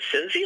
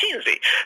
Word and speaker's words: Cinzi: So, in fact, in Italy, it's pronounced Cinzi. So, but I pronounce it the American way.